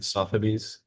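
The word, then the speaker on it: Sotheby's: Sophabies.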